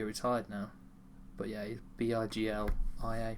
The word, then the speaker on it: Biglia: I think the G and the L makes the G silent.